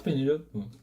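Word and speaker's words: Penélope: Oui, je dis toujours Pénélope. Oui, parce qu'on prononce en français.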